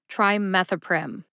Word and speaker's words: trimethoprim: it when I say it slowly try methoprim trimethoprim how did I know how to say sulfamethoxazole